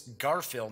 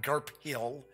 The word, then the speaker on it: Garphill: games like I said I'm almost positive its Garfield not GARP Hill and renegade game studios